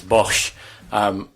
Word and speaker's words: Bosz: Correct pronunciation is Bosz.